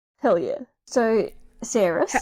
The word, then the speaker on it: Saeris: But you pronounced our female main character's name correctly. Hell yeah. So, Saeris. How about you name the word and I'll tell you like who they are. So Saeris, yes, is our female main character.